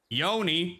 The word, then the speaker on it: yoni: want to read the Yoni massage Yoni pronounced Yoni is the Sanskrit word for